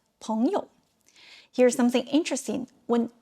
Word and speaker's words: 朋友: But when it is part of a 朋友, it is pronounced with a neutral tone. Repeat after me, 朋友.